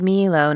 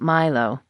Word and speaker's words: Milo: milo would like the milo statue it's actually pronounced milo not milo i said gently i don't think the sheriff